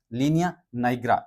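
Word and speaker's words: linea nigra: अब देखो एक होता है लीनिया नाइग्रा। इसको क्या बोलेंगे? लीनिया निग्रा भी बोल सकते हो आप वो अलग-अलग प्रोनाउंसिएशन होता है कौन क्या बोलता है ठीक है और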